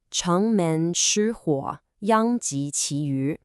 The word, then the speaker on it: 城门失火，殃及池鱼: In Chinese, it's pronounced chéng mén shī huǒ, yāng jí chí yú.